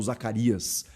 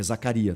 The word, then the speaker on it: Zakaria: Zaccaria ou Zaccaria, ou Zacarias. É Zaccaria, tá? Não tem S.